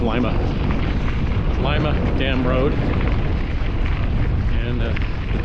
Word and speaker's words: Lima: That's pronounced Lima.